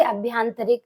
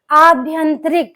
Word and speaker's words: आभ्यंतर: हम सही ही लिखेंगे बच्चे बोलते अभ्यांतर तो हम क्या लिखेंगे अभ्यांतर लेकिन अभ्यांतर नहीं होता है शुद्ध शब्द होता है अभ्यांतर क्या होगा आभ्यंतर यानी कि आ पे मात्रा